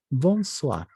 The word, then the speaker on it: bonsoir: Muy bien, bonsoir. Hemos dicho que la OI se vuelve UA. Bonsoir. Muy bien. La R se pronuncia muy suavito.